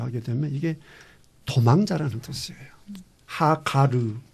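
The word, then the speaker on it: הגר: 하가르 이제 원래 발음 그렇거든요.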